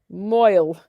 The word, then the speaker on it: mohel: It is when the mohel, how do you say it? Moil. Okay, Viola.